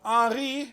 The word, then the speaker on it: Henri: I'm saying it in French because it's spelled in French. But Henri, Okay.